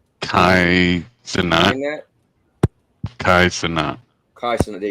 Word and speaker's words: Kai Cenat: Kai Cenat.